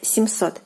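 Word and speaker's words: семьсот: are pronouncing this word, the m is not softened by the soft sign when you are pronouncing it, but it has to be written to make this word correct.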